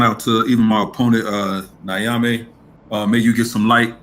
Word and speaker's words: Nyame: Now, is your name pronounced Nyame or Nyame? It's either or, but it's really Nyame. Okay, yeah. Okay, Nyame. So your guys just keep that in mind, because I know Nyame is almost, yeah, it sounds like you're saying Naomi. And that's my aunt's name. That's a female's name. So Nyame is his name. Nyame, that's how you pronounce it.